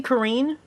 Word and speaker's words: Karin: by far the big you stop saying Kar is it supposed to be Karine and that is confirmed that's what they're pronouncing it as now that's a verb that